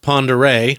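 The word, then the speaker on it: Pend Oreille: Now, you may know that as the home of Lake, looks like it's spelled Pend Oriel, pronounced Ponderay.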